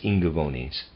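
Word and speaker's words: Ingaevones: the year readers aside I'm pronouncing i n g a e v o n e s as ingavonis sorry end of readers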